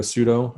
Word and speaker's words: sudo: need to do a sudo we're not going to cover that some people pronounce it sudo just so you know because it really is a do command with superuser privileges so if you don't